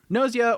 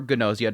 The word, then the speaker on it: Gnosia: Noia or Gnosia, depending on how you want to pronounce it, opens up with our main character named Yuri.